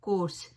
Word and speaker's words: coarse: आज हम बात करेंगे इंग्लिश के दो ऐसे वर्ड्स की जिसका प्रोनाउंसिएशन बिल्कुल सेम है, कोर्स, लेकिन उसकी जो स्पेलिंग्स हैं वो भी डिफरेंट है और उसकी मीनिंग भी टोटली डिफरेंट है। तो कोर्स, COARSE, कोर्स का मतलब है रफ, खुरदरा या खराब, ठीक है।